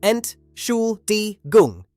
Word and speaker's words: Entschuldigung: And Entschuldigung. Yes, it's a long one. Ent schul di gung. Entschuldigung.